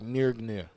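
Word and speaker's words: Mjölnir: mirror yeah it's like it's got like a a good in there it's not music it's like near gnar well that's how they say it in the movie so that's how i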